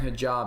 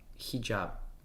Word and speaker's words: hijab: barrier so if you say are you wearing hij job it's really like saying are you wearing a cover the word hijab is pronounced as hijab hijab hijab hijab hijab hijab hijab hijab hijab hijab